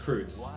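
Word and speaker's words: Kreuz: Kreutz, but Kreutz is spelled as like a hash, because I think in German that thing is pronounced Kreutz.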